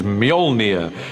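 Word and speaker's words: Mjölnir: a hammer is the work out how to pronounce it um which is molnia in our movie at the moment until somebody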